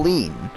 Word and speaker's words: lien: paul had a federal lien and i'm not talking about like leaning on something it's called it's spelled l-e-i-n-a-lean and this is something